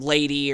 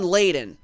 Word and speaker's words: Layden: I keep saying Lady or Lading or whatever. But Sean Layden, the original CEO of